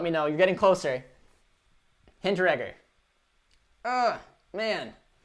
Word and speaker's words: Hinteregger: Hinteregger. Man. It's challenging, but the E is silent. Hinteregger.